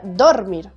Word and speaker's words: dormir: o vocal por ejemplo la palabra dormir es aguda porque se acentúa en la última sílaba si no sería dormir y ahí sería grave pero es aguda porque lleva la mayor intensidad en mir no lleva tilde porque porque termina en